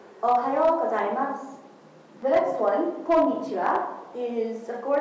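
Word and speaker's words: おはようございます: Its pronunciation is "Ohayo gozaimasu." Ohayo gozaimasu. Ohayo gozaimasu.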